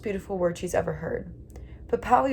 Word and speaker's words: Puhpowee: Puhpowee was 3 syllables and meant the force which causes mushrooms to push up from the earth overnight.